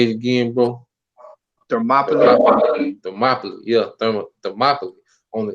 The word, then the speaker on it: Thermopylae: So I'm gonna get the war of Therma Palai, if I'm saying it right. But You say it's called Thermopylae.